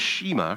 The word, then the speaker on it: Shema: And it was in this Shema, or Shema, depending on how you want to pronounce it, that Israel was told